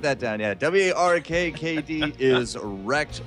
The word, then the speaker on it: WrKkd: right now how exactly how they want us to pronounce their name of wrkkd and uh i'm not entirely too wrecked okay wrecked okay there we go so it is team wrecked awesome guys i'm gonna